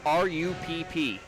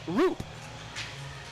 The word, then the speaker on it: Rupp: How would you pronounce the name R-U-P-P? I would go with Rupp. Which you should, because that was the pronunciation of one of the players. But there's another R-U-P-P on the same team, pronounced Roop. And that's because in that area, Rupp and Roop, they're the same spelling.